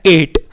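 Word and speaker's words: eight: संख्या आठ को इंग्लिश में लिखा हुआ है एट अब इसके अंदर आप बताइए कौन से हमारे लेटेस्ट साइलेंट है न बेटा उलटवार साइलेंट है दो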